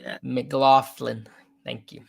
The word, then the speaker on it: McLaughlin: McLaughlin. Thank you. McLaughlin.